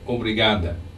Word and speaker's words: obrigada: But let's focus just for a minute on the D of obrigada. The point of articulation for the D is exactly the same as for the T. Listen to how the Brazilian sister says obrigada. Obrigada. Can you tell the difference? I can. Her tongue is against the teeth.